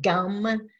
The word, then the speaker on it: gum: So if you pray to Ganesha, you say his seed sound gum, G-U-M, or sometimes it's spelled G-A-M.